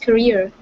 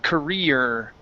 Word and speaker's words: Korea: okay all right so at the end of this word this is an uh sound instead of an R sound so you said South ker right and career is what